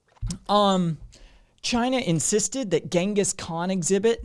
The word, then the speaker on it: Genghis: about the mongol emperor genghis khan which is as i understand it is closer to a pronunciation of chingus than genghis but i you know